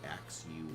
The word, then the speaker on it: Axew: a x e w I believe is how ax U is it's spelled I think we have the pre-evolved form